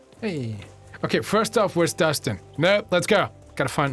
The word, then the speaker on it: Dustin: Wow, man, the times I've heard my name, Dustin, or Dustin, if you pronounce it the English way. My name is actually pronounced Dustin.